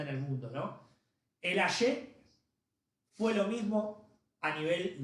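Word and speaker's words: Axé: Sí, pero se escribe con X. Ahí está, Lucy. El Aye, bien, con X y con acento en la E, perfecto.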